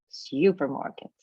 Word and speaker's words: supermarket: And students will stress the third syllable in the word supermarket, right? Because the stress on the first one.